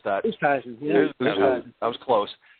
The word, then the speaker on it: Oosthuizen: I'm not sure how to pronounce that. Oosthuizen, yeah.